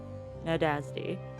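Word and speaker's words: Nádasdy: This young man was 15 years old, and he was called Count Ferank Nadasti. I don't know if I'm pronouncing that right. Nadasti. N A D A S D Y. Right. Nadazdi.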